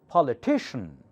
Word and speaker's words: politician: main action primary action politician okay CIN is not Chien it shun just like tion CIN CIN CIN all